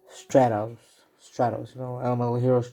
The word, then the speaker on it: Stratos: in the video i kind of mispronounced stratos so like stratus i meant stratos straddles you know animal